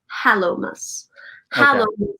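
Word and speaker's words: Hallowmas: october 31st palomas now this is not high on christmas not hollow like eight like there's nothing inside hollow as in hot like if you were to pronounce it correctly it would be hallo halomas something is saintly sanctified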